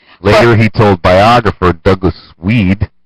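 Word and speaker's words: Wead: Later, he told biographer Douglas Weed, yes, pronounced like weed, like the answer, I wouldn't answer the marijuana questions.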